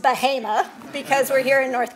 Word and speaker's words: Bahama: in Bahama which is spelled Bahama but is pronounced Bahama because we're here in North Carolina which is